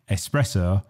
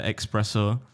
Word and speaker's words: espresso: i'm a faint rossa8611 people mispronouncing things like espresso springs to mind there's no x exclamation yeah when people say expresso yeah i feel like